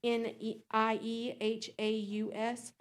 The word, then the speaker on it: Niehaus: On March 2nd of 2026, I spoke with Mary Niehaus, which is I can't pronounce her last name, it's Niehaus.